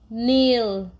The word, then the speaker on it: kneel: Here K is silent. Eel, kneel.